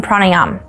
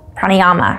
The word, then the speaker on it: pranayama: yoga take go take a yoga class on pranayam pranayama however you want to pronounce it p-r-a-n-a prana the life force the